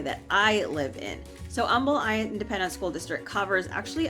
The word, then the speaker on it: Humble: It's pronounced Humble, even though it's spelled like humble. So whenever you come to this area of town, make sure you say Humble or people are going to know you're from out of town.